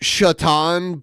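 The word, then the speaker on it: Šatan: yeah yeah it's Penguins it's pronounced shatan but it it's you know on a they don't put all the accent marks on the hockey jersey so his hockey jersey just said Satan on it not enough F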